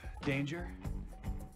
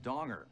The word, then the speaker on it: Danger: Are you Danger? Jack Danger? It's actually pronounced Donger. It's derived from a Dutch word meaning prudence in financial matters.